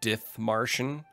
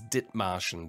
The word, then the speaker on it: Dithmarschen: English speakers always say Dithmarschen. It's Dithmarschen. The H is silent.